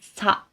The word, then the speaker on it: さ: The first one is sa. S plus A. Just you can say sa. Okay? You can say it like the a in car.